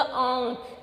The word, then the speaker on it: आँख: लेकिन जब ये चंद्र बिंदु इसके ऊपर लग गया तो हम क्या, नाक से बोलेंगे। थोड़ा सा इसका उच्चारण कैसे होगा, आँख। नाक से बोलते हैं ना हम, आँख।